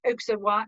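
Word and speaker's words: Auxerrois: is pinot blanc and oksawa we pronounce the x in our sas pinoblong oksawa now this is a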